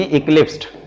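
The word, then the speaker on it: eclipsed: तो इस तरह से, इलिप्स नहीं जी, इक्लिप्स्ड है ना, इसको हटा देते हैं, इक्लिप्स फॉर्म होता है, इक्लिप्स्ड, इक्लिप्स्ड।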